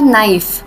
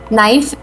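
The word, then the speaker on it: knife: Bring अ नाइफ from the kitchen. अ because नाइफ में ए is silent and एन इज़ नॉट अ vowel word.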